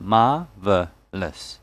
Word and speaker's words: marvelous: And in this word marvelous, there are three syllables. Marvelous. That's why one of these syllables must have a stress on them. So it's on the first syllable. Marvelous. American English has the R sound. So it's pronounced marvelous.